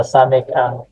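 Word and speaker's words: סמך: yung sigma niya, pero samek ang pronunciation. Samek. CH din yung dulo niya or KH.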